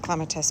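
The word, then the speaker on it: clematis: And then along the back, I'm going to have a clatus. I know they're pronounced clamatus, but I prefer to say clatus.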